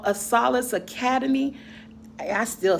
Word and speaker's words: Acellus: Acellus Academy.